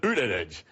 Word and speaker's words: Buttigieg: He pronounces it Buttigieg.